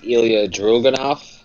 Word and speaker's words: Ilya Dragunov: One is Ilya Dragunov. Yes. Good job pronouncing that name, because I would have butchered it.